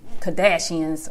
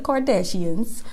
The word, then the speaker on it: Kardashians: to be the court doors but it's a Kadesh hands okay let me say it right y'all know I don't follow them sorry there's no shade no shade for those who love the Kardashians but anyway you know it takes a lot